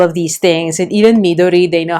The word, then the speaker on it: Midori: the other stationary paraphernalia, it is pronounced as midori, not midori. Again, it's probably with the stress. Where do you put the stress in the syllable in Japanese words?